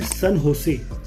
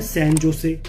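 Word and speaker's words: San José: आती है Costa Rica, जिसकी कैपिटल है सन होसे, पर इसको लिखने में आता है सैन जोसे, पर हमने इसको पढ़ना है सन होसे, जो इसकी राइट प्रोनाउंसिएशन है।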